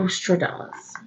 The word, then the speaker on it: Nostradamus: Nostradamus.